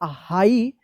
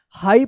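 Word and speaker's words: high: जी H silent रहता है। तो क्या पढ़ेंगे इसको? हाई हाई पढ़ेंगे।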